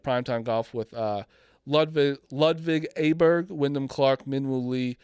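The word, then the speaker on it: Åberg: Does that bother you that his last name is pronounced Aberg, not Aberg?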